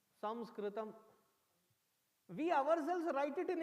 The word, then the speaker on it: Samskritam: First of all, it is not Sanskrit, it is Daurbhagya sthiti ours is we write our language in English and pronounce it in English. Dusthiti. How should that word of that language, ancient language, be pronounced as? Samskritam.